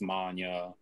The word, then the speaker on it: Mania: Like you said, that's my real last name. Mania is, I believe, it's a hybrid German-Polish name. But yeah, just growing up, like we'd always get the common mispronunciation at doctor's offices or what have you. And we'd always be like, no, it's Mania.